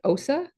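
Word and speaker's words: OHSA: safety so the uh I think Osa is how you pronounce that acronym the occupational health and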